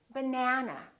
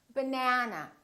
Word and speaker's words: banana: have but nah nah this second syllable is stressed that means this vowel is going to be much longer repeat banana banana so the app is